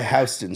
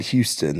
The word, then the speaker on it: Houston: it's right by Houston Street, not Houston. They call it Houston there, which is again odd. It's spelt like Houston, but I even used to call it Houston Street. My dad was like, "No, it's Houston."